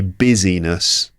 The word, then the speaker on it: busyness: I'm talking about the busyness of Life three syllables busy and the other one is business to do business with